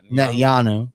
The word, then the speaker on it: Netanyahu: Netanyahu. Yeah, I always want to say the TH, but the boy who cried wolf is a thing.